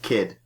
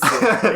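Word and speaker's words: Cid: I'm pretty sure his name is, Kid. Well, Kid. It's a hard C. Well, it's Sid. It's Sid.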